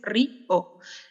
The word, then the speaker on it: río: Y queda ri o. No es monosílabo, no es una sola sílaba, sino que es ri o.